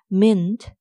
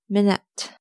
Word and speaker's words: minute: It's not mint, it's minute. Minute. Minute. Example sentence. Wait just 1 minute.